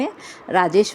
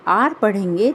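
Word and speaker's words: hour: जैसे आर एच ओ यू आर इस शब्द को पढ़ते हैं आर रमेश वाला आर आप इसे प्रोनाउंसिएशन समझ सकते हैं। राजेश वाला आर रूही वाला आर है ना आर को हिंदी में कैसे लिखेंगे?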